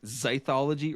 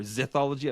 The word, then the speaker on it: zythology: like that so like zythology or zology I don't know how you'd pronounce that zedy t h o l o g y I thought that was